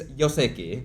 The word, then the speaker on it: joseki: Oh, Yoseki, yeah. Yeah, so we don't actually. It's Yoseki, Yeah, like yeah. Y-O, almost. Yeah. Sounds like that. Similar to German, actually.